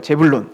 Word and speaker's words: 스불론: 왜 스불론이냐면 이게 원래는 제불론이라고 이제 발음을 하는 거예요. 제불론. 근데 우리가 스불론이라고 한 거죠.